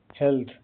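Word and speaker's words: health: एच ई एल टी एच का उच्चारण pronunciation हेल्थ ए का उच्चारण ए छोटी ए की तरह होता है। टी एच की ध्वनि थ होता है। जीभ दांतों के बीच रखकर हल्की हवा निकलती है।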